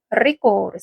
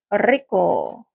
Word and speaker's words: rico: 맛있고 없고는 이제 속성이기 때문에 에쏘, 에스 다음에 맛있니라는 말은 맛있는이라는 말은 rico를 써요. rico. 그래서 SOS rico 이렇게 물어보면 그거 맛있어?가 되는 거고 이때 R 발음은 떨어주셔야 되거든요.